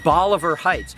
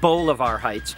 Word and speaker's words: Bolivar Heights: And when you start about places, I like thinking about Bolivar Heights, not Bolivar Heights at Harper's Ferry, now West Virginia, Bolivar.